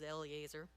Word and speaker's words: Eleazar: Jordan so they asked Moses and elizar some people pronounce it as Eleazar to grant them ownership